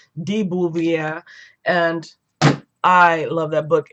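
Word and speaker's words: de Beauvoir: time Simone bubier if you say her name Daboo via and I loved that book and that's definitely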